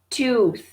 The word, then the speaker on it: tooth: Tooth, tooth. Et là, c'est important le TH. Hein? Tooth, tooth. Comme je disais la semaine dernière, pour ceux qui l'ont écouté, le TH, il faut vraiment le pratiquer.